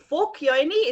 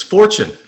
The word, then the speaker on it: Forchione: And today we are giving a voice to Paul Forchione. Is that how you say it? Actually, it's Fortune. Oh, I got that wrong. So sorry. It's okay. You said it the Italian way.